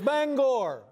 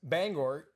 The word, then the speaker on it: Bangor: There's a certain sensitivity about how you pronounce the name of this city. Yeah, it's Bangor. All right. Bangor. And for the longest time, I thought it was Bangor.